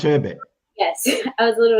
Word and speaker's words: Achebe: I think there's an author called I don't want to Chinua mispronounce. Achebe.